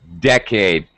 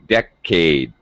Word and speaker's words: decade: yes very good decade decade uh second syllable stress so decade a decade okay that's better good okay